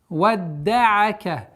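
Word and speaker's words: وَدَّعَكَ: Ма вадда'ака. Удваивание даль. Вадда'ака.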